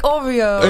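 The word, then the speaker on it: Awreeoh: It's pronounced like Oreo.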